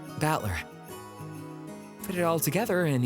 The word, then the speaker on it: Battler: japanese pronunciation so far the problem is my given name is made up of the characters for fight and person and it's pronounced battler put it all together